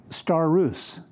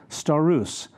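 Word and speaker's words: σταυρός: not accurately translated here it's a Greek word star ruse st if you'd spell it in english it's with the letters it's s ta u ro s star ruse and that it simply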